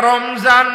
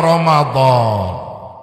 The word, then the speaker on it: রমাদান: কেন আমি উচ্চারণ করাচ্ছি এ ভাই এটা রমজান না এটার শুদ্ধ নাম হলো রমাদান কি নাম সকলে বলেন